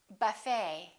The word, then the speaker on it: buffet: A few more ET endings. Bouquet, like a bouquet of flowers. Buffet. Valet. And one more, Chevrolet.